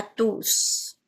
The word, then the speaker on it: tous: À tous à tous. à la fin à la fin de la phrase je vais prononcer le s du tous pour parler de la totalité des gens.